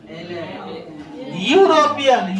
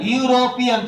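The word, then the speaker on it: European: है एन लगेगा लगा यूरोपियन य से ना शुरू होगा यस सर यूरोपियन तो देखो य जो है य जो है वो किसम आ रहा है क ख क ग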